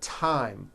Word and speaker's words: thyme: spelled with a th they are pronounced as if they were spelled with a normal t t like that and these words are thomas thompson teresa thailand thames like the river esther and thyme which is a spice